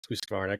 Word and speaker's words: Husqvarna: Husqvarna fans will be pumped that you pronounced Husqvarna correctly.